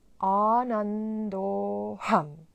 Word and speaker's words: Ānando'ham: So it's quite important how we pronounce the Sanskrit words. So this is Ānando'ham. It's made out of two words, ānando'ham, and ānando'ham plus aham becomes Ānando'ham.